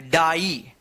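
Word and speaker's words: die: आपने रूल ये भी पढ़ा होगा कि आई के बाद ई रहे या ई के बाद आई रहे तो इसका उच्चारण इ होता है। लेकिन यहां पे नियम के विरुद्ध गया।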